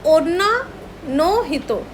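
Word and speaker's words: 女の人: ये नो हो गया, ये हितो की कांजी है, तो ओन्ना नो हितो। अब जो लोग बिगनर है, सपोज उनको मेरी प्रोनाउंसिएशन समझ नहीं आ रही है, तो देखो पहला है ओन्ना, ओन्ना, ONNA, ओन्ना।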